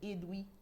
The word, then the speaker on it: Edwy: plein droit la presse et doubler rennes ça s'écrit ed w lee edwin coq edwin chez nous mais sans le n il s'appelle edwy plenel paix est le 2è ne l messieurs